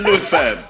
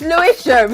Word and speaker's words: Lewisham: I actually thought she lived in Lewisham. Where's Louis fam? What's that? You Spen? know they're gonna kill you for the hams. Hey, Spen. It's Lewisham, okay?